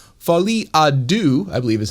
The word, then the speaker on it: Folie à Deux: has a new movie, The Joker, Part 2, Folie à Deux, I believe is how you pronounce that.